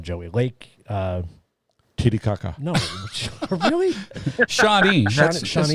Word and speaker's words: Shawnee: Shawnee. That's Shawnee? not too Is that how Shawnee. you say it? Shawnee? Yeah. Shawnee.